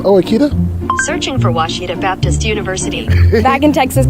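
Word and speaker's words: Ouachita: pronounced Oita searching for wasita Baptist University back in Texas everybody pronounces it witch but really it's wash wash wash how would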